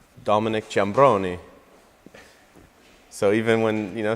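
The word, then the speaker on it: Ciambrone: my family is from Calabria so it's it's pronounced Dominick jabroni so even when you know someone it's kind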